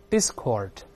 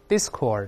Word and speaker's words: discord: 者纷争，重音在前面，我们大声读一下 discord， discord 这个词表